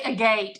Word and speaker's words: agate: I always say agate. And Heather's like it's agot.